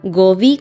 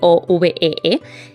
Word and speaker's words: Govee: es de la marca gobi creo que se pronuncia Así es la que es goe Y la verdad es